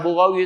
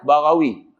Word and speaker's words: Barawi: Bukan Burawi Ustaz, Barawi. Faham tak? Hak paling senang, hak kitab tak ada senang. Boleh faham tak ni? Ejaan betul daripada Barawi. Kitab Rumi, Burawi. Hak betul hak mana? Barawi.